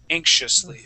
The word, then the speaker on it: anxiously: And then anxiously, yeah, that X and I is going to make a sh sound, anxiously, okay?